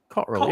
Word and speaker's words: Cotterill: Cotterill, yeah. Cotterill. We're going to pick everything up. It's got 3 syllables. Cotterill. Cotterill. That's 3 syllables.